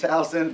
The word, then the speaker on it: Towson: of who Towson is the proper pronunciation it's Houston finally and hopefully the